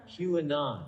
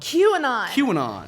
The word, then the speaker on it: QAnon: It's like Lebanon, but with a Q. Yeah, it's like, do it. QAnon. QAnon. So it's the QAnon conspiracy theory. And so basically this theory is followers of the QAnon belief system are to